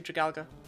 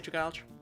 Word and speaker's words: Dragalge: Even if I have never learned to say its name properly. That is actually Dragalga. That just sounds awful. I'll always say Dragalge.